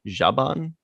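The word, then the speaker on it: Zhaban: picard what advice does jaban is how you pronounce it jabon yeah that's what he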